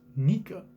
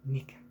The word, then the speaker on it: Nika: Sound effect is pronounced Nika, like sun god Nika in Japanese. Nika.